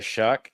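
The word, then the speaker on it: Shough: Uh the New Orleans Saints did get Tyler Shuck, that's spelled with a g h for those of you who hate the American English language.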